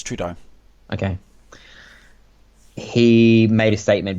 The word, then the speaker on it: Trudeau: When the controversy broke about John Trudeau, did I say his name wrong again? You really did. It's Trudeau.